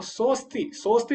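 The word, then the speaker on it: सोऽस्ति: तो साहा धन अस्थि है तो सो अस्थि हो गया, तो सोस्ति बोलेंगे वास्तव में इसको। ये बीच में जो शब्द है ये इसका उच्चारण नहीं किया जाता, लेकिन ये संधि का सूचक है।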